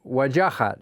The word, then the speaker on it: Wajahat: So if any of you viewers have questions for Waj, I think he said his mother pronounces it Wajahat.